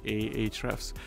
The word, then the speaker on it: Ahrefs: uh using hrefs um i usually pronounce the hrefs but it could be ahrefs so within the hrefs